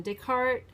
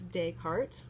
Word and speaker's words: Descartes: Descartes, which we pronounce Descartes or Descartes, okay?